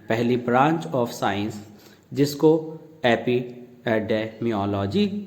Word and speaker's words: epidemiology: EPIDEMIOLOGY pronunciation है एपिडेमियोलॉजी.